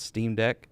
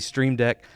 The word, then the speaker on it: Stream Deck: in my first video I pronounced it as Steam deck several times and got it wrong but it's a stream deck a star-filled themed stream